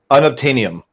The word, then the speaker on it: unobtainium: avatar james cameron's avatar i mean is uh unobtainium because it's unobtainable unobtainable um i think